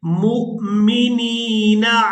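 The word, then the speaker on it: مؤمنين: मा काना अल्लाहु लियज़रल मुमिनीना, यहाँ मीम को हमजा साकिन के साथ मिलाएंगे तो झटके के साथ अदा करेंगे। मुमिनीना अला मा अंतुम अलैहि हत्ता यमीज़ल खबीस मिनत-तय्यिब।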